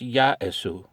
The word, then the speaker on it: Yaesu: Some hams say Yaesu, Yaesu with an S. My son speaks Japanese, and he said it's pronounced Yaesu. And he's right.